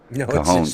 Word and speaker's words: Cajon: Yeah, see, out in California, J is pronounced with an H, because of the Spanish. So it's Cajon Pass.